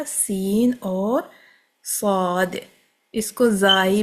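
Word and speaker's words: زاي: इसको जाई भी बोलते हैं अरबी में। ज़ ज़्यादा साउथ एशियन प्रोनाउंसिएशन है।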